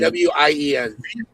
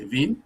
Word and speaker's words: Wien: Wien. Well, in English, it's Vienna. In German, it's Wien. Yeah, in German, it's like a Wien. Right, a V. And the V is pronounced like a W.